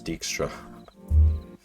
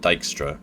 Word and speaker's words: Dijkstra: let's just say dextra I think it was only until Witcher 3 that I learned how to pronounce dextra I always called it dijkstra and I'm pretty sure